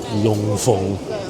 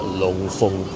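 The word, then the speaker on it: Loon Fung: Long Feng. In English, it's spelled Loon Feng Supermarket, but we pronounce it Long Feng in Cantonese.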